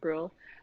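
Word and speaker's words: Brühl: But once they got Daniel Bruhl on screen, I think that's how you say it, Bruhl.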